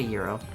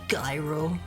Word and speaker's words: gyro: You don't have to get a euro. It's actually pronounced gyro.